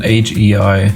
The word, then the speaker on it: HEI: In an older video of mine, I mispronounced the AGI distributor. I called it the Hay distributor, but obviously, like I think someone mentioned that it's an European thing. It's an HEI distributor.